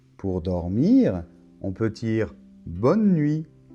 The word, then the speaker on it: bonne nuit: Alors, on voit qu'on ne prononce pas la lettre E finale, hein, bonne, et pas bonnet, bonneux, non, bonne. Et la lettre T finale ne se prononce pas non plus.